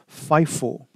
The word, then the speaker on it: FIFO: to utilize again the fifo life on average Marathon so let's take a look at that those methods in this case specifically the first and first out or the acronym is pronounced fifo and that means whatever